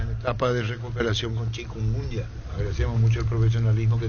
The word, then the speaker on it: chikungunya: ¿Puedes indicarme cómo lo que se pronuncia correctamente el nombre de esta enfermedad? Chikungunya, chiquitunga. De todo ya escuché. Si me puedes ayudar, por favor. Chikungunya.